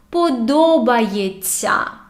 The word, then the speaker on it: подобається: When we have this ся, we say it like long, soft т. Ця. Умивається. Подобається.